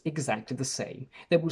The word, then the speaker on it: Sam: My name is Sam with an open A, but this sound doesn't really exist in many other languages that I know. So let's see how some foreign languages behave when they pronounce my name. In Italian, the sound A doesn't exist, so the closest option is E. So Italians call me Sem, which is different from Sam.